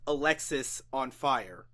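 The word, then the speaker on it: Alexisonfire: It is pronounced Alexis on Fire.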